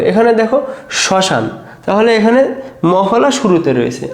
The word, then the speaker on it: শ্মশান: রয়েছে জাস্ট চন্দ্রবিন্দর হবে দেখো ম ফলা যদি শুরুতে থাকে চন্দ্রবিন্দর লিখতে হবে এখানে দেখো শ্মশান তাহলে এখানে মফলা শুরুতে রয়েছে আমাদের প্রথমে দেখো তালবসার উপরে কি দিতে হবে?